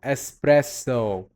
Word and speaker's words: espresso: And then we have espresso. The O at the end you're gonna emphasize on. Then we have latte. The E you have to pronounce as well. And then we have lemonade. Aid. Lemon aid. That aid connects the whole word, and you have to emphasize on the A as well.